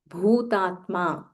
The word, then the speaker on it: Bhutatma: So make sure that you pronounce the Mahaprana Bha clearly.